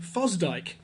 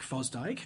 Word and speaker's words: Fosdick: On the other side of the debate are liberals like Harry Emerson Fosdyke.